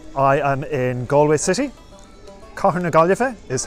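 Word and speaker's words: Cathair na Gaillimhe: matthew i'm irish i am in galway city car neglife is how you say galway city in irish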